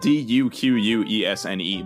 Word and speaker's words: Duquesne: Duquesne is spelled Duquesne, by the way, Alice. Yes, the French way.